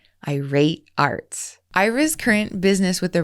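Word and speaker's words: eyer8arts: e r the number eight a-r-t-s and that's pronounced irate Arts Ira's current business with the router also has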